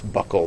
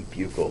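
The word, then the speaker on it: buccal: Buckle over cheek and that's how you actually say that it's Buckle like a belt buckle is how you say it rather than bugle which many you know me included I used to think that that's how it was said as well okay so there you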